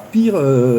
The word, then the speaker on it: Peer: Alors Pire, ça s'écrit P2ER, mais moi j'aime bien le prononcer Pire même, parce que des fois, bon.